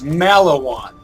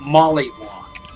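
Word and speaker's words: Maliwan: or not Teddy er its mallow on not Molly I'm not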